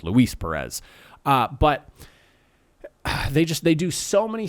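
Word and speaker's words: Luis Pérez: I've been saying his name wrong all season long, and I just realized that the other day. It's Luis Perez.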